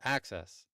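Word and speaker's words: AHCCCS: Who would have known that a h cccs is pronounced as access?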